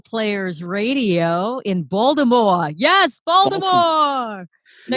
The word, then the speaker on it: Baltimore: radio in baltimore yes baltimore no you're not supposed to pronounce the t baltimore there's well there's a couple of different ways you can pronounce it there's balmer some people say baltimore